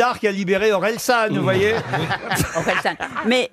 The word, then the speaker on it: Orelsan: chanteur comment vous dites Orelsan bonne réponse de Stev et Gérard jor non mais c'est une question de prononciation c'est moi qui trou vous avz dit Orléan oui mais c'est presque